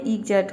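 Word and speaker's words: exert: जा रहा है एजट ये एजट नहीं यहां पे इजर्ट होगा यानी कि ए के जगह पे ई हो जाएगा छोटी ई हो जाएगा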